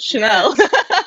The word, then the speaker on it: Chanel: Oh, I heard channel, like the English channel, not Chanel.